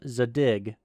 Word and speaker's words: Zadig: After installing PulseView, plug in your digital logic analyzer, and run a driver installation utility called Zadig, that's spelled Z-A-D-I-G.